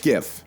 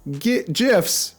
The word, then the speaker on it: GIF: GIF. It's pronounced GIF.